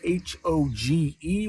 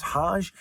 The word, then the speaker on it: Hoge: Now, it's spelled H-O-G-E, which could make you think it's Hogue. It could make you think it's Hoge. But from what I understand, it's Hodge.